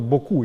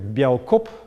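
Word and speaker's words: beaucoup: прочитать да А написано очень просто боку и непонятно зачем всё это нагромождение этих букв которые не читается в большинстве случаев да Ну понятно почему потому что во старом в Старо французском это слово произносились как бео коп а само это слово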